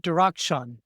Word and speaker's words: Darakhshan: I'm and today's special guest is Dustin Dakshun.